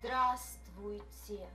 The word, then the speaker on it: Здравствуйте: Здравствуйте. Pronunciation is given in the square brackets. Здравствуйте. Здравствуйте. Здра. In the second syllable, дв is silent.